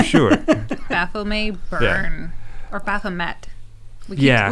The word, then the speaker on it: Baphomet: baffle may burn or baphomet yeah we keep saying bathroom a which i think is the incorrect pronunciation baphomet i think it's depending